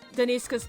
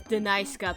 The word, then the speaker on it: Deniska: it comes to pronunciations, I pronounce Deniska's name as Denaiska because that's how the text-to-speech voice pronounced it.